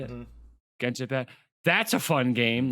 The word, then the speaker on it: Genshin Impact: I keep mispronouncing this, but like Genshin Impact. Genshin Is that how you say Impact. it? Mhm. Genshin Impact.